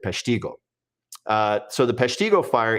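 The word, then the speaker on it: Peshtigo: Some people like to tell me it's the Pesigo fire. That's that's how the the modern Wisconsin will refer to it, but the natives pronounced it Pestiggo.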